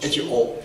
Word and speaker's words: Ho: The family name is H-O. H-O. Ho. Pronounced Ho.